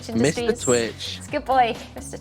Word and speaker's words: Twitch: And then they can't pronounce the word Twitch either. They always go Twitchy. It's so cute. Oh, it's because they almost, it sounds like an R sound, doesn't it? For W sounds.